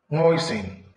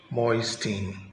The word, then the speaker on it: moisten: Moisten, not moisting, the T is silent.